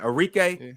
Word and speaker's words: Arike: Arika. Yeah, Arike.